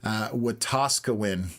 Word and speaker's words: Wetaskiwin: So I now know how to pronounce it. Wetaskiwin.